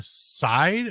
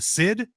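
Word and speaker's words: síd: And they're also known as, and again, there's an accent on the I in this, a side or a seed, a sid. I would say in Old Irish, sid.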